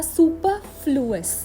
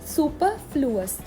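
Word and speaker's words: superfluous: यहाँ पे भी हमने आर को साइलेंट रखा और बोला सुपरफ्लुअस, सुपरफ्लुअस।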